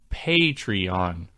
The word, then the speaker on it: Patreon: It's not Patreon, it's Patreon. Pay rhymes with hey.